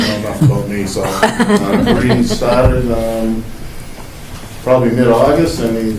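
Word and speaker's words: Khari: It's spelled K-H-A-R-I, pronounced Karee like Marie.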